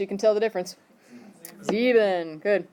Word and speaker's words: sieben: Sieben. Good. Is it S-I-E or S-E-I? Sieben. So the E is second because that's the one you pronounce.